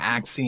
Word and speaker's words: Axie: ax how do you say axe infinity yeah axe c infinity actually infinity battle collect urn um and